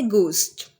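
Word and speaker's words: ghost: ठीक है, इसी के साथ साथ हमारे पास पहला वर्ड है गूस्ट। अब गूस्ट के अंदर हम एज को नहीं बोलेंगे, गूस्ट।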